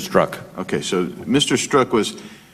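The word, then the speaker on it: Strzok: And you also indicated that, and is his name Mr. Struck? I wanted to get the pronunciation right. I've heard it about 5 different ways today. Struck, is that? Struck.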